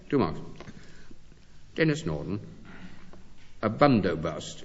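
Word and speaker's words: bandobast: A bundobust. It's spelled B A N D O B A S T. But as far as my knowledge of Hindi stretches, it's pronounced Bundobust.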